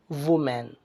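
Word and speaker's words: women: Form main होगा, और फिर आप वो मेन नहीं बोलेंगे बल्कि इसको प्रोनाउंस करेंगे विमेन, विमेन, विमेन।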